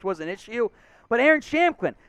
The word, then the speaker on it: Shampklin: Malik Davis, Rico Dowdle, and Aaron Shampklin, P in his name, no pronunciation there, the P is silent.